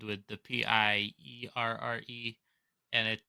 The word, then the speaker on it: Pierre: It is Pierre, pronounced Pier. Yeah, Pierre, and it's Pier, even though I want to say something else.